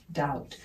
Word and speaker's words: doubt: this there is no doubt remember the b in doubt is silent so it's just dt the same as debt there is no doubt